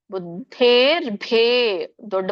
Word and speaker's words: ಬುದ್ಧೇರ್ಭೇದಂ: ಹೇಳಬೇಕು ದೀರ್ಘ ಇದೆ ಬುದ್ಧೇ ಬುದ್ಧೇರ್ಭೇ ದೊಡ್ಡ ಭಾಪ್ರಾಣ ಇದೆ ಬುದ್ಧೇರ್ಭೇದಂ ದ ಮಾತ್ರ ಮಹಾಪ್ರಾಣ ಹೇಳಬೇಡಿ ಯಾಕಂದ್ರೆ ಹಿಂದಿನದು ಮಹಾಪ್ರಾಣ ಬಂದಾಗ ಮುಂದಿದ್ದು ಕೂಡ ಮಹಾಪ್ರಾಣ ಹಾಗೇನು ಕೇಳಿಸೋದು ಹಾಗೆ ಉಚ್ಚಾರಣೆ ಮಾಡೋದು ಸಹಜ ಹಾಗಾಗಿ ಗಮನಿಸಿ ಬುದ್ಧೇರ್ ಭೇದಂ